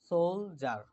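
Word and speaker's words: soldier: বা প্রভাষক professor lecturer সোলজার সোলজার সোলজার ঠিক আছে ডি উইল বি জ সোল যার সোলজার সৈনিক সোলজার ঠিক আছে জের উচ্চারণ জ এর মত হয়ে যাবে সোলজার সৈনিক সিঙ্গার গায়ক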